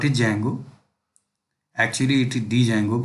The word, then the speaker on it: Django: Actually it is Django, but D is silent.